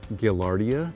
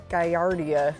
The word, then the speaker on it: Gaillardia: For some reason I was calling it Gaillardia. I don't know where I ever heard that, but it's actually Gaillardia.